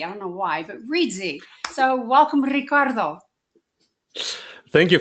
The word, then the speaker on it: Reedsy: co-founder more importantly than that the co-founder of ritzy I almost said ritzy I don't know why but Reesie so welcome Ricardo Thank You Frances and and